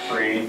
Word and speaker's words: Friel: Is that how you pronounce his name? Free. Yeah, Free, yeah.